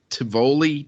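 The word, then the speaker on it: Tivoli: ever heard of um I think it's pronounced T tavoli TI v o l i they're like these really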